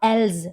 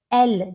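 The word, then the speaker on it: elles: It's not else, because most of the children, they pronounce it else. Don't develop this habit, okay? So pronounce it L, just like singular one, she, okay?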